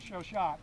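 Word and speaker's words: Chauchat: automatic rifle which originally they were issued with show shot which is the correct pronunciation I'm told automatic rifle model of 1950s known as the show show long barrel recoil principle which is one of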